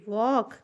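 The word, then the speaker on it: walk: लिखा है वॉक slowly W ए एल के वॉक ठीक है वक यहां पे एल भी साइलेंट है ठीक है एल साइलेंट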